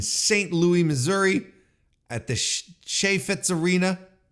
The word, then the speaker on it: Chaifetz: Louis, Missouri, at the Chaifetz Arena. Chaifetz.